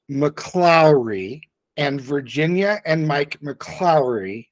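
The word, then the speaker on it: McClaughry: about Virginia and Mike mrey seriously is this just more gatekeeping well number one it's pronounced mlau and Virginia and Mike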